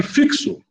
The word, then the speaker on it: fixo: Mas agora aqui, fixo. Fixo. Então são 4 letras e 5 fonemas, porque o X tem som de KS.